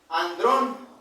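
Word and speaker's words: ἀνδρῶν: Bueno, de hecho este si vamos al al idioma griego, esta palabra hombres es de se pronuncia andrón.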